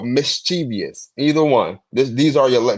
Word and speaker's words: mischievous: h ah wait damn you say chus right mischievous mischievous mischievous m i this how this how listen